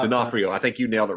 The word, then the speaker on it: D'Onofrio: So when she meets Dawson, oh Lord, Vincent, whatever his name is, Del Frio. It's spelled D'Onofrio. D'Onofrio. I don't know how. D'Onofrio.